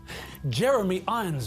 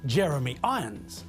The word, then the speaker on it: Jeremy Irons: Jeremy Irons' name is pronounced Jeremy Irons, not Jeremy Irons.